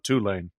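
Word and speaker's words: Tulane: Virg Virginia Tech wins two lane covers how's our pronunciation on two lane doing better Ross yeah yeah perfect good good I think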